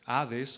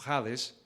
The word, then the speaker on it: Hades: dice lo siguiente, y aquí vamos a poder distinguir Gehenna de Hades o Hades, dependiendo de cómo lo pronuncies, inglés o español, pero dice este teólogo: